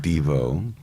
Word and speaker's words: Devo: I think Devo, spelled Deveau, would be like Art Nouveau, Art Devo.